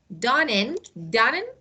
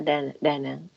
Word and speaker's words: Da Nang: This one, Dannon. It's Yeah. Da Nang in Vietnam.